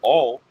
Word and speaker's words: awl: And as we go into that word all, okay, A-U-L, that's how that word all is spelled.